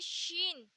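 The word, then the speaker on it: شین: लेकिन एक होता है शीन, यानी ये छोटा होता है और ये इससे बड़ा होता है। शीन, इसे हम प्रोनाउंस करते हैं शा से।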